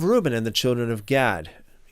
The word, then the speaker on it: Gad: and the children of Gad. And this word gad in the Hebrew uh is more pronounced like God. But again, I'm I'm not going to pronounce it in the Hebrew way just for the sake